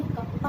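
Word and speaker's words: kappa: और देखो ऐसे सी बनाओ, और इसको हम कप्पा कहते हैं। बेसिकली इसको हम क्या प्रोनाउंस करते हैं, दिस इज कप्पा।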